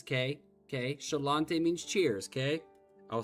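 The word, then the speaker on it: Sláinte: But that's how it's said. Shalante.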